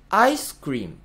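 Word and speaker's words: アイスクリーム: ですね対して英語は強い弱いでアクセントを取りますアイスククリームアイスクリーム最初に強い音が入って次をちょっと弱く読むっていう強弱でアクセントをつつける言語なんですねこの辺もかなり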